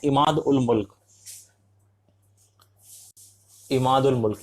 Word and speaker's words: इमाद उल मुल्क: मुल्क, ये माफ कीजिए, इसका वजीर इमाउद उल मुल्क ही देखता था। फिर से वापस मैंने प्रोनाउंसिएशन गलत की, इसका नाम है इमाद उल मुल्क।